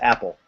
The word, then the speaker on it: Appel: yeah that's it my my last name is pronounced Apple this is Apple yeah it's spelled mandillo but it's pronounced apple right what he said and